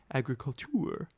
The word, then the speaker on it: agriculture: Agriculture is a pursuit in France, as it is in our own country, but the word is pronounced differently, agriculture. The spelling is the same, because the word is derived from the Latin.